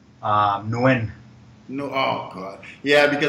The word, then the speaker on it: Nguyen: Like the real way is Nguyen, but people cannot pronounce that.